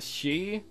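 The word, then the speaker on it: Sidhe: at the same time wait so it's not hid he said he it's the she that's how you pronounce it i've been pronouncing it wrong all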